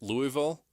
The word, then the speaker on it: Louisville: in the ACC that are in the tournament Louisville Louisville Louisville don't can't pronounce that don't call him Louisville it's Louisville